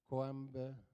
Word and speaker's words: Coimbatore: Okay, you got to spell it. C-O-I-M-P-A-P-A-B-A. Okay, and how do you say that again slowly? Coimbatore.